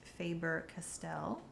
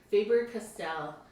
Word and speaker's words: Faber-Castell: So I think it's pronounced Faber-Castell. Yeah, Faber-Castell.